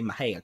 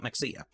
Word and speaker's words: Mexia: feedback i get but i do know how to say maheya correctly i didn't used to know how to say it correctly mind you and oh the comments that came in but no i i have memorized the maja i used to call it mexia it is my hair